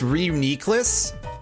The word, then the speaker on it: Reuniclus: Yeah, officially, if I recall correctly, Reuniclus is pronounced Reuniclus, and I heard somebody point this out in a video.